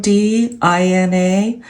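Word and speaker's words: Mdina: It's spelled M D I N A, but it's pronounced um Dina.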